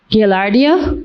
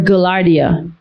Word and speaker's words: Gaillardia: Contestant, this word has two pronunciations, so I'll give you both. Gaillardia or Gaillardia. Gaillardia or Gaillardia.